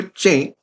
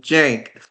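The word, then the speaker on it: Cenk: We also know he wasn't calling him a jank. He was calling him Jenk.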